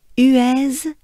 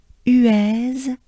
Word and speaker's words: Huez: on the graph but for once here we pronounce that last letter the funny z so z who is